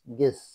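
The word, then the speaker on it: guess: ইউ E double S গেস অনুমান করা এখানে কি you silent G ইউ E double S ইউ টা উচ্চারিত হচ্ছে না জি ইউ ই এস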